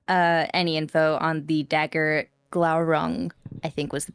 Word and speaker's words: Glaurung: He asked Leo to look into any info on the dagger Glaurung, I think was the pronunciation. Yes, Glaurung.